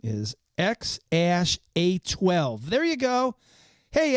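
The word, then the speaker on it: X Æ A-12: Musk has said the intended pronunciation is X A12.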